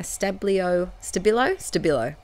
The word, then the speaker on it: Stabilo: Then to my little tiny word stickers, I used my all pencil, my Stabilo, that's how you say it, Stabilo all pencil,